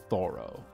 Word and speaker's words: Thoreau: David Thoreau uh I believe he his name was he pronounced his own name thorough Henry David Thoreau that's